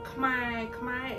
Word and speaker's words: Khmer: get off from chatting one of the famous Khmer news social media, and they are a YouTuber too. It's the abbreviation is RFA Khmer, R like Richard, A like Apple, F like Frank, and Khmer is people, it's our people.